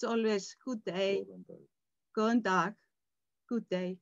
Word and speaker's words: góðan dag: It's always good day, góðan dag, good day, góðan dag, góðan dag, góða nótt.